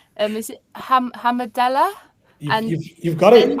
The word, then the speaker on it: Hamdallah: Is it Hamadella? You've got it, Hamdallah.